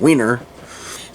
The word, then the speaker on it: Wienerville: Then at 7, my brother Josh's favorite, Wienerville, a puppet show hosted by Mark Wiener. I have to say it like that, Wiener.